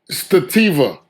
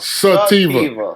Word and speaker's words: sativa: Stativa. Am I saying it right? Sativa. If it was a girl's name, you wouldn't get it wrong. Say it like a girl. It's sativa. Sativa.